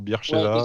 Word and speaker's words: Beersheva: Bon Eli, on va pas te mentir, nous Beersheva on connaît parce que, enfin déjà si on prononce bien Beersheva ou Beersheva.